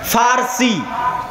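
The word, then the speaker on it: فرس: আরেকদিকে পারস্য পারস্য মানে ফারসি বাংলায় বলে কিন্তু ওটাই আরবিতে আছে ফারসি ফুরস কেন আরবিতে পর কোন উচ্চারণ নাই আরবিতে পর কোন উচ্চারণ নাই সেটা আমরা পারস্য বলতেছি ওটাই আরবিতে বলে ফুরস ফার্সি যারা ফার্সি ভাষায়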